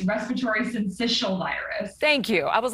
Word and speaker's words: syncytial: I rarely do, but it's respiratory syncytial virus.